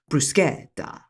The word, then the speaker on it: bruschetta: What I now have come to know is properly pronounced as bruschetta.